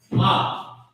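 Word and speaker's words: מה: Ma. What or ha? It's what we say all day. Maha, ma. That's how you pronounce it.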